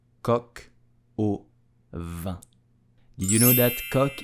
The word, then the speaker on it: coq au vin: So to pronounce it correctly, you will say coq au vin, coq au vin, coq au vin.